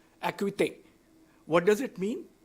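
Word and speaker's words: Acuité: know it's difficult because it's originally meant to be a French word it's the actual word in French is akute what does it mean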